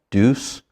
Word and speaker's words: Deus: I think it's pronounced Deus.